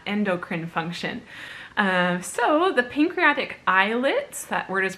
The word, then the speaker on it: islets: focus on that endocrine function so the pancreatic islets that word is pronounced like islets pancreatic islets contain two types of cells and